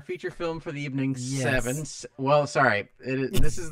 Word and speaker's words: Se7en: pronounced seven in.